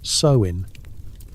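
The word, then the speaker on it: Samhain: your village prepares for Samhane. That's pronounced sew in as in your sew in over your head with these spirits buddy.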